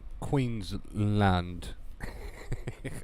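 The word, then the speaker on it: Queensland: what it is actually aussie aussie accent it's pronounced queen's land i tried i tried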